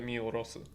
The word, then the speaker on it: 見下す: Because normally these kanji are mikudasu, but this is miorosu. Okay. You can. Oh, apparently you can read that miorosu.